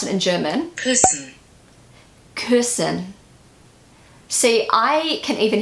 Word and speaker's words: Küssen: So this is how most native English speakers would pronounce this word. Küssen. Küssen. This is how, like, literally you would say it in English. But in German, you're not meant to say it like that.